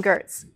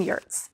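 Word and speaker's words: Giertz: kampf april wilkerson and simone gertz i mean yurts i mean yes dang i knew i was going to flub that one her last name does not sound like it's spelled sorry simone we love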